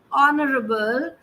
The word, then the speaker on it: honorable: an an so therefore because honorable the H is silent the word is pronounced as honorable and therefore we will